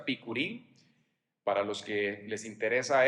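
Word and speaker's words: בִּכּוּרִים: Entonces, primeros frutos viene del hebreo que se pronuncia bikurim, para los que les interesa esto, y se celebraba la fecha del 17 de Nisan.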